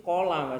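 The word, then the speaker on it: قال: Jadi qaf yang diikuti alif itu mesti kola bacanya, enggak mungkin kila, enggak mungkin ku.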